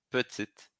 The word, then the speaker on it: petite: O terceiro, petit para no I. No feminino, petite. Pronuncio o T.